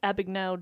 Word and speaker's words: Abagnale: Have you heard of the work of Frank Abagnale Jr.?